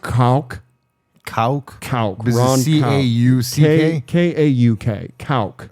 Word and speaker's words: Kauk: Now, a gentleman by the name of Ron Koch, I told you there was going to be some cock talk. Cool. It's pronounced Kauk. Kauk?